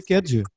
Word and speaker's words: Kedge: aux écoles de commerce et 3 ans à Kedge. J'ai bien prononcé Kedge?